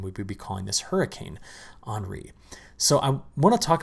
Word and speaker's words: Henri: now i mispronounced that on monday calling it henry i looked up the pronunciation right after i recorded and post the video and i'm like shoot i got it wrong well henri which is right here is currently a tropical